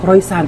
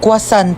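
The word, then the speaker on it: croissant: Croisant daw. Croyant? Ah kwasant po.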